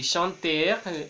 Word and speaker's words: chanter: En el infinitivo de los verbos del primer grupo es importante que la R no se pronuncie, a pesar de que nos sintamos tentados a hacerlo. Vamos a decir chanter y chanter, parler, parler,